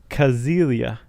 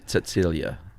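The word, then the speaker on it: Cäzilia: Uh, the wife's name was Kazilia. Silia. Frank. No. If I'm not mistaken, if you begin a word with C in German and it's pronounced like a like a TS.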